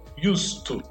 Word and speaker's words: used to: Então eu tenho used to com S sem pronunciar o D.